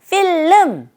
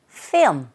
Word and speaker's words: film: 필름 정직하게 발음하지 마시고요. 이때 fil 거의 L 사운드가 안 들리는 것처럼 발음이 되고 있죠. 필름보다는 film 렇게 하시면 됩니다.